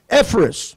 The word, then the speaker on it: Epaphras: Maybe some of you folks can pronounce it. I can. Epaphras.